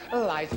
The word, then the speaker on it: Liza: It's Liza with a Z, not Lisa with an S, because Lisa with an S goes nuts. It's Z instead of S, it's Li instead of Lee.